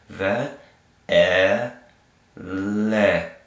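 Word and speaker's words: ואלה: So this whole word right here, and this H is, this hey is silent. Kind of like we have silent words, silent letters, silent H's at the end of our words in English. Like Sarah. Okay? So this is going to say ve'ele.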